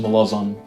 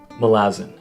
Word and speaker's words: Malazan: It's the first Malazan book. Oh, actually, it's pronounced Malazan. Malazan? What? No. Okay. It's Malazan. Kind of like a calzone, except this one's filled with blood and magic and has a generally dark tone.